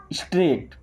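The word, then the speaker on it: straight: होता है जाओ स्ट्रेट यहां पे जी और एच साइलेंट है क्या पढ़ते हैं स्ट्रेट ध्यान रखिएगा इंग्लिश बोलने के लिए सबसे ज्यादा जरूरी होता है उच्चारण इनका।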